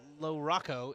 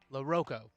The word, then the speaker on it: Loroko: Not not he is not Cooper Lorocco. It's Loroko after the after the uh uh Rock announcer could not pronounce his last name correctly.